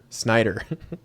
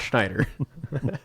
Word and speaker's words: Snyder: That puts us How do you say his last name? Snider. Not Schneider.